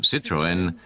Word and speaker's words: Citroën: French people to pronounce, so he added the 2 dots, called a tréma, over the E. That indicated that the vowels O and E should be pronounced separately, and that's how the pronunciation of Citroën came about.